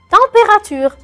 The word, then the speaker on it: température: Le E à la fin, je ne le prononce pas trop. Je vais vous dire mieux. La température.